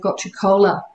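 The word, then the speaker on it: gotu kola: Another example is, I think a lot of people have heard of gotcha kola. I never know how to pronounce it right.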